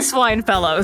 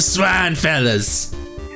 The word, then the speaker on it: Swine Fellas: We are the swine fellows. No, we have an aim to improve the standard of life. You gotta say it correctly. The swine fellas.